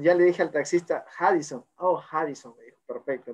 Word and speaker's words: Radisson: Y me acordé que la R se pronuncia como J en Brasil, entonces era Harrison. Entonces, cuando ya le dije al taxista, Harrison, oh, Harrison, me dijo, perfecto.